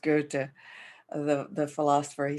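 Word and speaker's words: Goethe: to the german is spelled ghost but it's pronounced go to the the philosopher he said until one is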